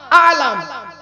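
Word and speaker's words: عَلَم: ইলিম, আলাম, আলাম, আলিম, আলিম, আল্লামা, আলাম। কটা শব্দ বললাম? কটা? 7টা শব্দ বললাম। ইলিম মানে জ্ঞান, আলাম আইনে টান নয়, আলাম, আলাম মানে পতাকা, চিহ্ন, চিহ্ন, আলাম পতাকা।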